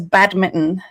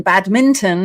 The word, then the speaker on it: badminton: All of your gang from out there say badmitten rather than badminton as it's spelled.